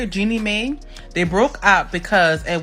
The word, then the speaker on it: Jeannie Mai: That's how you say it, Jeannie Mai.